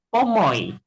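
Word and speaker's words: pomoj: Ingat huruf J bacanya Y kalau di bahasa Esperanto gitu ya. Jadi contohnya di sini unupomo kai unupomo estas du pomoi.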